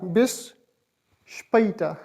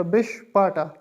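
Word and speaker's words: bis später: आर बिस स्पैटा बिसपटा अगर ये दो डॉट्स ना होते ए के ऊपर तो यह इस तरह प्रोनाउंस होता बिशपाटा तो ये बस यही डॉट डॉट्स का यही इफ़ेक्ट होता है और इसको अब हम इस तरह प्रोनाउंस करेंगे बेस स्पेटा सी यू लेटर को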